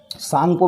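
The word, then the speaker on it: Tsangpo: सांगपो मैंने बताया था साइलेंट होता है उसमें S, और T साइलेंट होता है, इसलिए सांगपो T से लिखेंगे हम।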